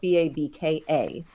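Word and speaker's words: באַבקע: So there's a Yiddish babka, so the English word is spelled B-A-B-K-A. The Yiddish word B-A-B-K-E, also pronounced babka, is the word that refers to a sweet bread that contains a filling.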